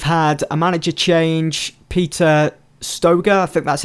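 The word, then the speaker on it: Stöger: whereas clone they've had a manager change Peter Stoeger that that's how you pronounce his name who in real life has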